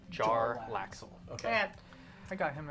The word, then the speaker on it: Jarlaxle: And is it That's what it pronounced looks Jarlaxle or Jalaxle? Jarlaxle.